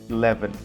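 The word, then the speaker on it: eleven: So we have 11, 11, 11. Remember that shua is special and everyone may have a different pronunciation, but in general you must sound like this, 11, 11, 11.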